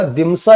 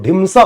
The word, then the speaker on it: ढिमसा: अब ये याद रखिएगा, दिमसा या ढिमसा जो कहते हैं इसे हम लोग, देखो कई बार ना स्पेलिंग बहुत क्लोज हो जाती है और कई बार ये परेशानियां भी लेकर आती है, इसको ढिमसा पढ़ा जाता है।